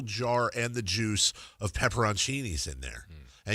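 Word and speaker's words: pepperoncini: me, I have seen pepperonchinis and it's not what are the what's the other way people pronounce it? It's not pepperonchini. Peppercinis. Yeah, it's not peppercini. It's pepperonchini.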